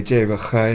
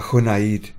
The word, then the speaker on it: Junaid: I've had random pronunciations of the name. Okay. Because of the way that it's spelled. Yeah, absolutely. And, you know, especially Spanish, I've worked with a few Spanish colleagues, and they say, Jay, but her, innit? It's a Junaid.